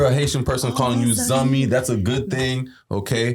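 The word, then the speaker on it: zanmi: But Zummy is spelled Z A N M I. Zumi means friend in Creole. Okay. So if you ever hear a Haitian person calling you Zummy, that's a good thing.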